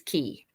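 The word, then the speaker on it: χ: someone will tell me it's key the x is key um you could destroy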